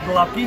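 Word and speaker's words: gołąbki: ahead I love it so we we pronounce it go lucky that's it okay all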